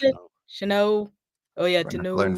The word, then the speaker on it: Chanot: How do you pronounce it? Chanot.